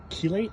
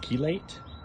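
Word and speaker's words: chelate: Um the leaves are a little yellow, so I I gave it some um iron keilate. I think it's pronounced keelate last night.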